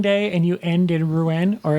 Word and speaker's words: Rouen: Day 4 is a sailing day, and you end in Rouen, or as they told us over and over on the ship, it's pronounced Roll.